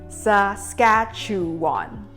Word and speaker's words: Saskatchewan: Saskatchewan SA-SKA-CHEW-WAN. Four syllables.